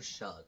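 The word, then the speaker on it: Shough: Shahoo will be the starter for the Saints the rest of the year. Tyler Shug.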